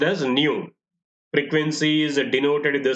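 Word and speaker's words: ν: So this is pronounced as, this symbol is pronounced as nu. Frequency is denoted with the symbol nu and is measured in terms of cycles per second.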